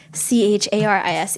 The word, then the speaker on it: Charise: So now it's Charise but pronounced Charis.